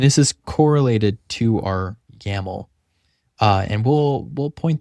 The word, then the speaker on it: YAML: YAML.